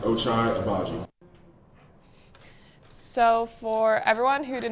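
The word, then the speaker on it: Ochai Agbaji: people that don't know my name and how to say it it's pronounced ochai abaji so for everyone who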